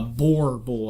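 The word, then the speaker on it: Boerboel: A boar bull, I guess you could say, but you have to roll the R for the actual pronounce to the.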